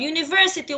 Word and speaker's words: university: طب university, why we say A university? Because the sound of U is like the letter U. It's not ah. When the sound is ah, it is vowel. When the sound of it is U, it's consonant.